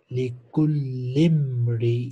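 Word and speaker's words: لكل امرئ: Likullimri, in, for each man. Likulli imrin. Join lam with meem. Alif is silent here when we read it in a sentence.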